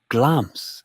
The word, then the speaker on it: Glamis: It is pronounced Glamz, with the I silent, the way the Lyon